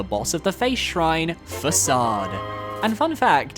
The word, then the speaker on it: Facade: of the face shrine facade and fun fact as a kid I had no idea how to pronounce this word so I called this man fade for the longest time now if we're giving